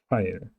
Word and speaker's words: Pfeil: PF, Pfeil, Pfeil.